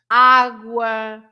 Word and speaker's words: água: Guerra, água com gás, guerra. Bah, have you noticed that, for example, there is a difference in água and guerra? In água, I pronounce every letter, the U included.